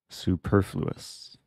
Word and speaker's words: superfluous: knights two things attacked did I mispronounce superfluous is it superfluous not sure which which vowel to stress so taking on F4 was the best move but white still having some discomfort oh Josh would probably know Josh says I pronounced it right superfluous I learned this word